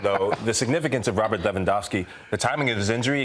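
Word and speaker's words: Lewandowski: It's always funny to me when Americans say Leandowski. It's Leandowski.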